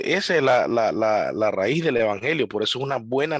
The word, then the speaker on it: evangelio: Junto eu y ángelos solo que, bueno, en griego cuando van pegadas esas tres se pronuncia F, la EU como F, entonces evangelio, ¿ya?